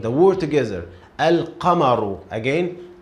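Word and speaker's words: القمرُ: It's already pronounced. So al-qamaru, the word together. Al-qamaru. Again, al-qamaru.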